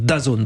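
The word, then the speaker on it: DAZN: dit non pas forcément d'azone bon c'est comme ça qu'on prononce he d a Zn j'ai demandé aux principaux intéressés ils nous disent comme ça on prononce daone bon vous vous dites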